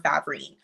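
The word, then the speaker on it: Favrene: I pronounce it differently every time. Depending on who you talk to, it's Favern or Favrine.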